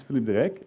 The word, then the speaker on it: Philippe De Ryck: me my name is Philippe Derek I know it's a very difficult name for non Dutch speaking people so no no